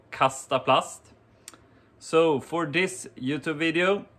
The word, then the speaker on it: Kastaplast: the name of the brand itself is called castaplust so for this youtube video uh i also